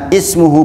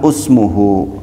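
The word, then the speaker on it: اسمه: tapi dibaca kemudian dibaca ismuhu bukan usmuhu Padahal kalau menurut aturan Dibaca usmuhu tapi dibaca ismuhu kemudian yang ada yang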